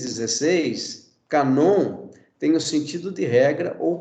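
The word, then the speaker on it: κανών: é hp então vejam geralmente no grego a sílaba tônica está na última sílaba então o que é cano para nós no grego é canon que significa isso também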